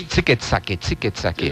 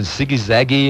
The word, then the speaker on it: Zicke-Zacke: Oh, that's Zicke-Zacke. Is that what it is? Yeah. Okay. Some mispronounce it Ziggy-Zaggy and all this, but as long as they're saying it, that's You're good.